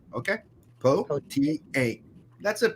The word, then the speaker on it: Pothier: My name is Pothier, and if you're having your trouble pronouncing it since it's French, it's Pothier. Okay, Pothier. That's it.